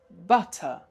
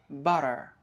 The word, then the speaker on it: butter: This word in British English is butter but in American English is butter. So the t again is pronounced somehow as d and the r is pronounced at the end.